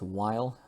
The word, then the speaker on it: while: But while, okay, there's no pronunciation with the H, just while, but while geeks can